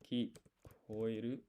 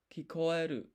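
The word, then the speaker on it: 聞こえる: For some reason in my brain, I keep hearing I, koi, instead of koe. It's confusing to me, but thank you so much.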